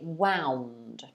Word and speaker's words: wound: so in the past tense you would say wound which is spelt w-o-u-n-d wound and unwound would be the